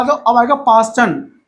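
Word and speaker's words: Paschen: देखो अब आ जाओ, अब आएगा पास्टन, तो 4 से कहां पर आ रहा है, थर्ड पे।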